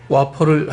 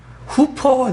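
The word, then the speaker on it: Whopper: 근데 우리나라 발음으로는 거기 분명히 영어 WOFER인가요? 후퍼가 되고 후퍼. 네. Can I have a 후퍼? What? 여자가 알아들었으면서도 그래요. 이 흑인 여자인데 후퍼. 그러니까 와. 예. 와퍼.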